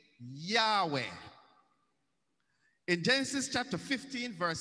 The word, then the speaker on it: Yahweh: He says, "My name is Yahweh," spells Y-H-W-H, and it is pronounced Y-A-H, Yah, that's Yahweh, H-E-W.